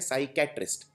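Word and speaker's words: psychiatrist: ना किसी एग्जाम में साइकेट्रिस्ट में पी साइलेंट होता है सबसे आगे जो पी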